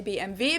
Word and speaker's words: BMW: In German, we say BMW because W is pronounced W in German, and it stands for Bayerische Motorenwerke, which means Bavarian Engine Works.